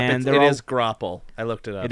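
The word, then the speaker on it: graupel: And It they're all- is grapple. I looked it up. It is grapple? Thank you, Thank you. Google pronunciation.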